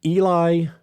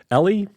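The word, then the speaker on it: Eeli: Right wing Eli, I guess that's how you say it, E-E-L-I, Tolvanen, Eli Tolvanen, leads in scoring percentage, 21.7, 5 goals on 23 shots in 19 games.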